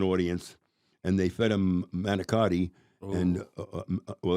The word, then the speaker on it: manicotti: and they fed them manicotti. And they call it manigot. That's how you pronounce it, manigot.